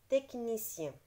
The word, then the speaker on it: technicien: Connais-tu d'autres mots où le son K s'écrit avec CH? Oui, bien sûr. Donc, par exemple, orchidée. Donc, là, on a donné l'exemple de orchidée. Ça s'écrit avec le CH. Technicien, c'est avec le CH.